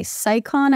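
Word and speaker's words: Scicon: But a few years ago, I invested in a Sicon, I think is how you say the name of this brand, S-C-I-C-O-N, bike bag for travel.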